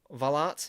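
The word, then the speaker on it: Wullaert: Belgium she scored twice Tessa V I think it's valart is how you say it yeah Belgium had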